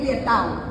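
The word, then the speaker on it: Lieutaud: Es lietau. Okay. Pero se escribe así.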